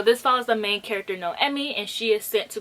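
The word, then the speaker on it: Noemí: about the main character no emmy because i pronounced her name wrong in my last video that i recommended this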